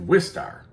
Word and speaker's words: Wistar: And in this episode we're going to look at Rats of Wisteria. Not Rats of Wisteria, Rats of Wistar. I've been saying it wrong this whole time.